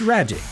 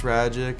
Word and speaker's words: Rajcic: of the year, Ragic. So last name's Ragic, it's pronounced like magic, so I'm just a big magician guy. I can do a couple card tricks. That's when we return. Ragic won Cardinals minor league